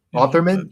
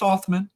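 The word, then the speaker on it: Othmann: So Otherman? that Is it no, just Othman, like Mike Hoffman without the H.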